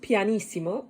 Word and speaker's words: pianissimo: term scene we have two p's which is pronounced pianissimo in italian and it means very soft one